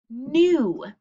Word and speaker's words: knew: had the knowledge and the k is silent isn't it it just sounds like new so we're gonna have